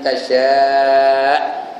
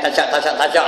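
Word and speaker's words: تشاء: Man tasya'. Tasya' tu 5 harakat. Jangan tasyak aja.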